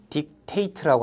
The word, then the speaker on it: dictate: 그러니까 여기 나와 있는 단어도 동사니까 dictate라고 하는 동사로 발음을 해야 됩니다.